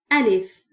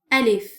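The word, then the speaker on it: ألف: The first Arabic letter is Alif. Alif. Just draw a vertical line like this. Alif.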